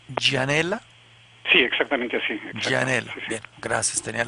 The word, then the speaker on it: Gianella: ¿Usted lo pronuncia Gianella? Sí, exactamente así. Gianella.